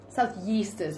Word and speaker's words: Southeasters: Am I saying it right? Southeasters? Southeasters, yeah.